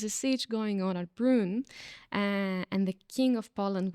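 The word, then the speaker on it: Brünn: Apparently there was a siege in Brunn, if I'm pronouncing it correctly. It has umlaut, so Brunn, and the umlaut above the U, so there is a specific way to pronounce this word.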